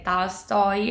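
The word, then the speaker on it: Толстой: libro di Paolo Nori, se ci sono 2 O, la prima si legge A, quindi è Dostoevsky, è Tolstoy e Gogol.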